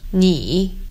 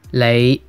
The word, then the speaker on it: 你: This word meaning you is pronounced in Mandarin as 你 with a falling rising tone. In Cantonese, it's 你 with a low rising tone.